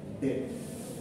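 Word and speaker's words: debt: ডেথ এটার উচ্চারণটা হচ্ছে ডেথ মানেটা হচ্ছে বিডি আর বিটা হচ্ছে সাইলেন্স আবার ওই ডেট ঠিক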